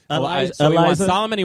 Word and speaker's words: Eliza: Am I saying it wrong? Is it Liza? Eliza.